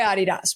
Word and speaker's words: Adidas: won't be whoa but we go by Adidas but that's the original pronunciation of it from the uh from the original Founders the German Founders but also Adidas so what did Adidas